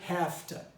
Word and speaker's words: have to: it to do something you pronounce it hafta all right hafta will